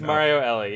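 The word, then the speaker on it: Mario Elie: I hope I'm saying his name right his pronunciation it is Mario Ellie you got it for the Alvin patroons in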